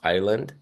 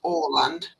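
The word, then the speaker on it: Åland: AO and then land is that pronounced Island it's the it's the a has a little o over the top of it yeah so it's Oland Oland okay in in Swedish but then in Finnish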